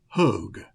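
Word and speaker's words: Hoag: to pronounce this because I want to say Merrell Merrill Hodge like the football player but it's m-y-r-i-l so I'll say mural Hogue h-o-a-g and mural was an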